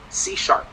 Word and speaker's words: C#: It's pronounced C#, like a musical note.